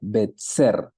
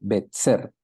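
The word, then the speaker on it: בצר: la letra Sade y la letra Sade en el hebreo tiene la pronunciación de ts entonces en el hebreo usted lee betser beter lo que significa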